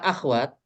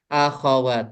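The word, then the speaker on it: أخوات: Ee terkhusus untuk kata akhwat itu sebetulnya ejaannya salah ya. Oh. Seharusnya akhawat kurang huruf A. Akhawat bukan akhwat ya.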